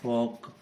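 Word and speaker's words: folk: फॉक, इसमें भी एल का कोई साउंड नहीं है, यानी कि ए ओ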